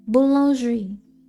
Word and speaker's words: boulangerie: Boulangerie.